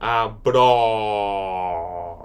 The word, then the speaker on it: abóbora: You're going to see it on top of the vowels, and it's going to make it more like an open vowel sound. A bra.